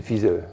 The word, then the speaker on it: Pfizer: On ne prononce pas le P, hein, c'est Pfizer.